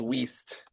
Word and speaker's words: Wiest: How pronounce It is Wiest.